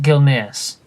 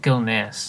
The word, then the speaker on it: Gilneas: what i've heard see i pronounce it gilneas i see it like if like the s is silent you're weird daniel i